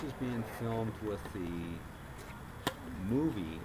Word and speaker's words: MUVI: And this is being filmed with the movie, it's spelled M-U-V-I, camera made by Viho.